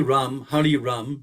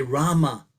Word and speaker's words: Rama: I found myself chanting Hare Krishna, Krishna Krishna, Hare Hare, Hare Ram, Ram Ram, Hare Hare. So I left out 4 syllables. I didn't say Rama.